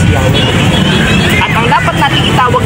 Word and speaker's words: Yah: mismo sa aklat nila the more correct way to pronounce god's name is yah at ang dapat nating